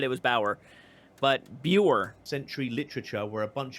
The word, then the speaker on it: Buer: wait no not really maybe Americans might pronounce this Bower but when I read it it sounds like buer so this all comes